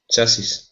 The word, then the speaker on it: chassis: parts uh are called what R rock or chassis chassis yeah frame or chassis yeah definitely um